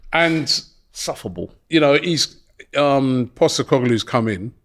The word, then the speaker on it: Postecoglou: How do you pronounce it? Postecoglou. Postecoglou.